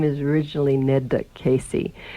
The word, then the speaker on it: Casei: And in Italy, it was always pronounced Casei, and in the German-speaking countries, they always pronounced it Käse. And I didn't like that because it was just too close to being cheese. And so I liked that Italian pronunciation of Casei, and I sort of